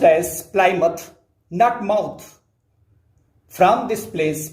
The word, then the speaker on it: Plymouth: lies plymouth by the native speakers it is pronounced as plymouth nut mouth from this place means from plymouth